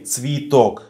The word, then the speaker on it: цветок: Another similar rule is unstressed Е is pronounced as E, цветок, flower. The last syllable is under stress, so we say цветок here.